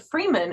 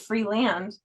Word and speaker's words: Freeland: the what's funny is you said Freeman instead of free land which is like it's